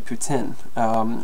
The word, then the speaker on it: poutine: I believe the correct pronunciation is actually poutine, but I guess I'm not perfect.